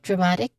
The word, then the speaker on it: dramatic: For dramatic, we have Was it dramatic? Yeah, the movie had a very dramatic ending. So, the stress syllable here is ma. Okay, ma. Because it's right before I Okay.